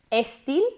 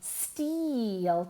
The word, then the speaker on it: steel: Steel? No, steel. También con una I larga.